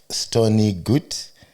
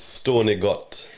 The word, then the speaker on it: Stony Gut: a son of stony good St. Thomas Jamaica. Did I say it right? Yeah. Yeah. Yeah. You say it right with your accent. It's Stony Gut.